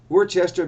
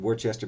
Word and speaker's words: Worcester: Yeah, I know some people say it Worcester, but if you want to say it Worcester, you should spell it like Wooster to rhyme with Worcester. Rooster, right? I'm going to say Worcester.